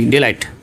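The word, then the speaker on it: delight: और rules number 5 में लिखा है कि जीएच के बाद टी आ जाए, यानी GH है और इसके बाद अगर हम आगे चलें और टी आ जाए तो GH का प्रोनाउंसिएशन नहीं करते, यानी उसे पढ़ते नहीं है।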